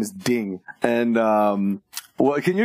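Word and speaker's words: dyng: that I guess and it's spelled d y n g uh d y n g like like kind of like dying but yeah I thought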